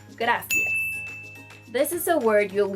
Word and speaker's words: gracias: If you're thinking that the pronunciation of this word is gracias, I'm sorry, but no, that's not how to say gracias.